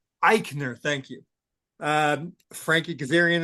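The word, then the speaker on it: Aichner: Fabian Iikner. Iikner.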